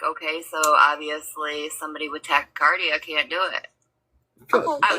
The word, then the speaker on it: tachycardia: participate in a polygraph test because you have tachycardia, or however it's pronounced, but your heart beats faster. It's tachycardia.